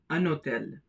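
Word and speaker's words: un hôtel: The first one is a notel anotel. Because of the presence of the mute H the N gets connected with the O that is the leazison takes place.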